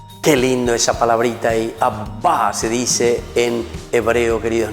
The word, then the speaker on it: Abba: Qué lindo esa palabrita ahí, Abba se dice en hebreo, queridos niños. Vamos a decir un poco conmigo cómo se dice Abba, que quiere decir papito.